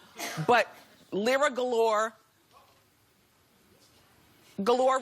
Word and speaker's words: Galore: But Lyra Galore, Galore rhymes with, what? No. I was gonna say door.